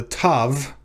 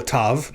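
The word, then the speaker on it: תו: other one that the tav um or they call it a tav not a ta or tau uh the tov they pronounce like the t in toy not like the th in thin now that's not to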